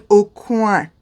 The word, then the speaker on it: Aucoin: It is not Kevin Aucoin, it is Kevin Aucoin. Just like a duck, quack, quack.